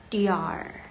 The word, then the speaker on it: 点: Jadi baca dian, harusnya dian, tapi mereka bacanya diar.